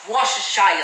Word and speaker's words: Worcestershire: Right here I have liquid smoke, and then I have vegan Worcestershire sauce. Yeah, I said it right. Worcestershire sauce, or W sauce if you can't pronounce it.